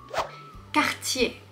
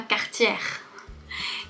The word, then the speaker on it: Cartier: Pas quartière. Quartier. Quand tu vois ER à la fin, c'est pas le son R, c'est le son E. Quartier. La difficulté, ça peut être le R qui est suivi du T.